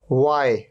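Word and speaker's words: why: वाई, यहां पर एच का साउंड ही नहीं है।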